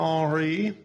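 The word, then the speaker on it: Henri: doing preparations for hurricane re and noticed i pronounced it in the french manner because unlike nasty and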